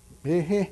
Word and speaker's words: Behe: How do you pronounce Behe? Behe, yeah.